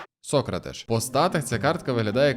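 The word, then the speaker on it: Sócrates: дуже цікавого бразильця сократиш хоча мені би хотілось сказати сократиш але в нього все-таки наголос на О я навіть в Ютубі знайшов ретро відео послухав як коментатор каже І це сократиш по стати це картка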